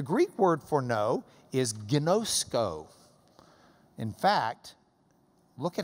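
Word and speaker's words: γινώσκω: The Greek word for know is gnosko. In fact, look at how it's spelled.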